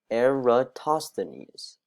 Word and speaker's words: Eratosthenes: discuss basic concepts the sieve of eratosthenes is pronounced sieve of eratosthenes a prime number which is very important is